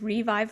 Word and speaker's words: RhiVive: so my website is revive marketing and it's spelled like my first name so it's RH revive marketing kind of shows my humor a little bit because my name is and I'm also on